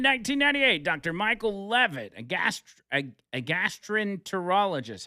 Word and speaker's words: gastroenterologist: Michael Levitt, a gastroenterologist. How do you say that? Gastrologist? Gastroenterologist. Oh. Gastroenterologist.